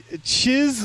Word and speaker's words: Chyzz: But thank you to Chiz Lily Tits. They in parentheses says rhymes with jizz, so I assume it's the first.